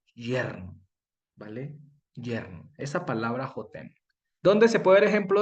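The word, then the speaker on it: חוֹתֵן: Pero resulta que Hatán se escribe de la misma manera, con las mismas vocales, ve, con las mismas consonantes. Lo único que cambia son las vocales y la pronunciación.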